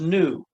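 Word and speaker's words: נו: Noon vav with the sharuk, which is pronounced nu, like anaknu.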